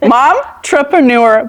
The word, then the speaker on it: Momtrepreneur: Momtrepreneur planner.